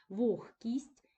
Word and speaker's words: вогкість: тому що знаємо що в таких словах як кігті нігті вогкий похідні від нього дігтяр похідні від нього звук г вимовляється як х Тобто повністю оглушується і це є нормою орфоепії вох кість ніх ті звук твердий